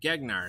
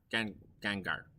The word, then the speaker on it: Gengar: Gegnar, that's right. Thank you. Gengar.